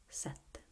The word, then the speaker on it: sette: And the same goes for these other words. Sette, sette, sete, sette, sete. Can you hear the difference?